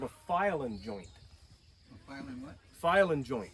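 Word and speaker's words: File-N-Joint: a thing called a file-in joint. A file-in what? File-in joint. It's spelled file-n joint. It's one of those weird, quirky things that's not spelled right.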